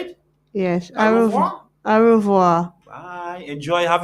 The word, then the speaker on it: au revoir: Yes, Au revoir.